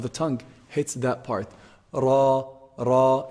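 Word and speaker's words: راء: Ra, ra. It's a heavy letter. How do we say ra? Sometimes can be heavy and light. Ra is heavy. Ri is light.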